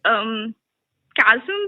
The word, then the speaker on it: chasm: So this has been like a really big chasm between us. Is that how you pronounce chasm?